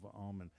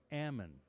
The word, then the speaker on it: almond: farm 30,000 acres of almond. Now up there north of Sacramento it's pronounced almond.